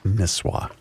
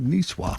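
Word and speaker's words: Nisswa: John, just cuz you're going to get emails, it's pronounced Niswah. Niswah. Really? I've always said Nissa.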